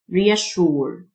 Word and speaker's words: reassure: qualified qualified يطمئن reassure الSSDU تنطق شه reassure طمأنة reassurance reassurance مطمئن